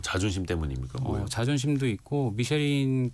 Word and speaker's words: 미쉐린: 미슐랭이라고도 발음하는 미슐랭 식당으로 이제 선정되는 그 과정도 되게 막 화제거리가 많이 되더라고요. 맞아요. 네. 무슨 뭐 암행어사처럼 몰래 가서 이렇게 점수를 매긴다면서요? 네. 사실 이제 2017년도에 우리나라에 미쉐린 가이드가 처음 들어왔는데 그때부터 굉장히 이슈가 컸었죠.